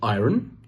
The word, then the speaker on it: iron: I-R-O-N. Is it iron? Wrong. The correct pronunciation is iron. R is silent.